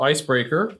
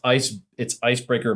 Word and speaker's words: Icebrkr: Yeah, so Icebreaker.